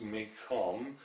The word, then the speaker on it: Mekong: Please note that it's spelled Mekong, but it's pronounced Mekong in Vietnam.